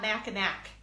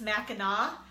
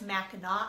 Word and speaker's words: Mackinac: say that anyway so the C is pronounced like a W okay so if I were you see that's Mackinac Island not neck-and-neck Island